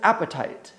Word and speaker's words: apatite: colored Stone blue green otherwise known as appetite and while it sounds a lot like you know that feeling you get when you're hungry it's not spelled the same a p a TI